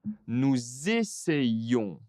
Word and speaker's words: nous essayons: Nous on donc ici, nous essayons d'apprendre le français. Attention, il y a nous avec un s. Le verbe essayer avec un e. Il faut prononcer la liaison.